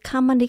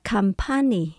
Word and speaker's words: company: Ngay cả từ company các bạn cũng nhấn âm đầu tiên. Company. Nhiều bạn đọc là company.